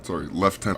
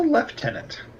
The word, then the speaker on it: lieutenant: What's a lieutenant? The difference between a lieutenant and a lieutenant? Oh, it's just how the British pronounce it.